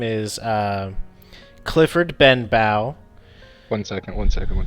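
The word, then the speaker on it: Benbow: he's your boss his name is um Clifford Ben Bowe one second one second one second so uh hex warband uh we have uh human male yep and his name is Clifford Clifford Ben bow Clifford bang bang yep uh and you Ben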